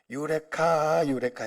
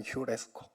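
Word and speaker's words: εὑρίσκω: 여러분들이 알고 있기로는 유레카 했다는 유레카. 그게 원발음 휴레스코.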